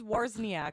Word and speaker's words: Wawrzyniak: So it is Wawrzyniak.